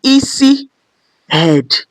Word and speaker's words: isi: I is can be pronounced E head. E head which is high high.